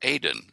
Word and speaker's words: Aden: found the volcano called Aden, which is the way you pronounce the Garden of Eden in Hebrew and Arabic. It's Aden, A-D-E-N.